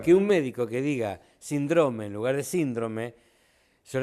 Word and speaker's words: síndrome: No, ahí no hay polémica que valga, es síndrome, es drújula, no es síndrome o síndrome, no, es drújula.